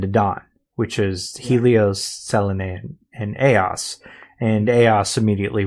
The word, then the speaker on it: Selene: But the connection between Tifa and Selene, or Selene, is actually how it was pronounced.